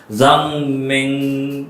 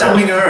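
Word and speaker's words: Zhang Meng'er: And then how do you pronounce this name? Zhang Meng. Zhang Meng Zhang And Pala Chen. Wrong. You all Please, pronounce Jeremy. Zhang Minger. Okay, that's probably how you pronounce it.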